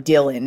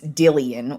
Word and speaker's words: Dillian: white uh dillian white i i actually was mispronouncing his name on friday's episode i was calling him dylan it's dillian white he ko'd him in